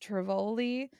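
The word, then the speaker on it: Tivoli: we went to um I think it's pronounced Trivoli which is the oldest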